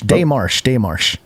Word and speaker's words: démarche: Petition They or have protest a pronunciation guide. Yeah, hold on, let's see. Démarche. See, this is part of- Démarche.